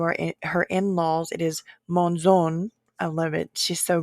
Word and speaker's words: Monzon: Her last name is pronounced Monzon, so I apologize. And also, besides the Monzon, if you are her in-laws, it is Monzon.